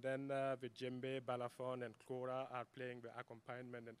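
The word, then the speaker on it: kora: will be playing this amazing instrument called the cora it's spelled k-o-r-a and it's made with a calabash uh the wooden bridge and 21 strings some people say that the quora is an ancestor of the harp it's uh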